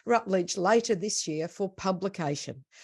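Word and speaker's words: Routledge: be submitted to now how do you say that is it rut that's right oh it is rutl later this year for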